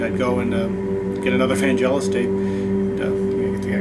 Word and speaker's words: Vangelis: favorite artist, great artist, Vangelis, or Vangelis, I think that's the proper pronunciation.